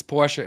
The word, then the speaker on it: Porsche: Fant pora and it's Porsche Americans just cut or British Speaking people english- speaking people they just cut the off they don't they don't pronounce the e at the end but well the American